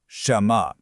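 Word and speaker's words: 什么: So this is shénme, and it's pronounced shénme.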